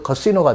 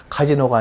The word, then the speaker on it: casino: Gamble in the casinos, 그 호텔에 그 카시노가 들어 있습니다. 카지노가 아니라 카시노, 이 스트레스가 두 번째 있고 I로 되어 있지만 C 이렇게 발음이 길고 높아집니다. 카시노에서 이렇게 자기네들이 노래했던 호텔의 카시노에서 도박도 할 수 없었습니다.